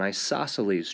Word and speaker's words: isosceles: This is going to be an example of an isosceles triangle, which is hard to spell and doesn't look like it's pronounced.